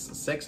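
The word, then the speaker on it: sechs: So number 8 is Sex Education. Sex Education is, normally it should not be number 6, because you know in Germany number 6 is pronounced sex, like the sex, you know?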